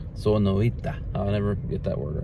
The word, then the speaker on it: Sonoita: Sonoita. Sonoita.